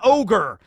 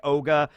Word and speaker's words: Augur: stay on task van ogre as the subtitles said in that one episode because it's augur but it is pronounced kind of more like ogre um you know or